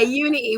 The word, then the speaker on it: unity: Unity. We don't pronounce the T's where I come from, you know? And Unity. we will pronounce it unity.